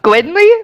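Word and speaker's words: Gwen-Lee: She looks at Gwynly? Like Gwynly? Like Gwen? Like Gwynly? Gwen hyphen Lee. Oh, that makes more Gwenly. sense now.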